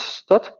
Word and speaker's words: std: name space called stdd sometimes pronounced stud um in um well mostly I think in the states uh but yeah okay